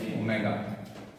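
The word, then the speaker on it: omega: velocity denoted by ओमेगा इसको डब् नहीं कहना कभी ये ग्रीक अल्फाबेट है ठीक है इट is called as ओमेगा ये इसके स्पेलिंग है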